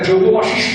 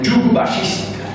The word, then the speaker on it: যোগ বাশিষ্ঠ: তার মধ্যে একটা ভগবদ্গীতা, তার তর্জমা ফার্সিতে, একটা যোগ বাশিষ্ঠ রামায়ণ, যাকে তারা বাজে বাজে বলেন যুগ বাশিষ্ঠ, যোগ বাশিষ্ঠ বলেন না, ওর ফার্সি উচ্চারণে যুগ বাশিষ্ঠ বলেন, সেইটা একটা।